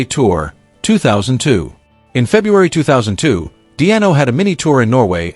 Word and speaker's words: Di'Anno: Baiano nickname a pun/joke, for his name, Paul Diano, is pronounced in a similar way to the nickname above.